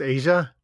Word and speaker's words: Aja: dan so that's how you say that that's pronounced asia it's pronounced asia i've been reading that as aja all the time and and not liking steely